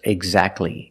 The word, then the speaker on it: exactly: If you link the sounds, do not pronounce the T. Examples, exactly and Christmas.